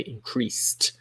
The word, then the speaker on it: increased: the pronunciation here okay increased it sounds like a t if sales increased we